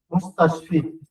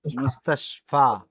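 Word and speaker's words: مستشفى: আলিফের মতন উচ্চারণ হবে, যদি নোক্তা না থাকে আলিফের মতন উচ্চারণ।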